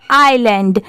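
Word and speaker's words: island: गया far away आईलैंड आई एस एल ए एन डी यहां पर एस साइलेंट है तो इसको हम लोग क्या पढ़ेंगे आइलैंड when the king orders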